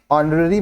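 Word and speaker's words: honorary: नरी secretary singular है जिसमें एच जो है ऑनरी में साइलेंट है देखि ऑनरी starts with a silent H एंड अ वाल साउंड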